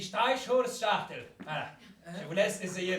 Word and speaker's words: Streichholzschachtel: Ah, ce faisant, est-ce que vous savez comment se prononce boîte d'allumettes en allemand? Non. Eh bien, cela se dit Streichholzschachtel.